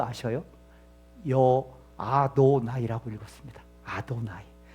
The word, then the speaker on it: 아도나이: 읽을 때는 어떻게 읽은 줄 아셔요?여 아도나이라고 읽었습니다. 아도나이. 그러니까 실제 이름은 야회라고 쓰고요. 어떻게 하나님의 이름을 경망스럽게 감히 인간이 그 이름을 부르느냐? 그래서 기록은 율법의 기록은 야회라고 돼 있는데 어떻게 읽었다고요? 아도나이라고 읽었어요.